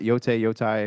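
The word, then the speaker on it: Yōtei: seen articles talk about ghost of y yote yoai is how you say it um I've seen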